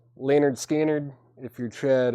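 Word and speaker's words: Lynyrd Skynyrd: a warm up see you guys Leonard Skynyrd pronounced Leonard Skynyrd if you're tread it's 38.99 Music On Vinyl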